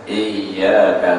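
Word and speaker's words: إِيَّاكَ: tapi kalunya baris tasdid Hamzah bertasdid dengan ya maka bunyinya Iya ada tekanan pada pertengahan lidah iyaka nabudu wa iyaka nastain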